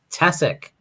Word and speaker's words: Tkaczyk: my pipeline stream and his name is Rick tessic yeah we need to say his name because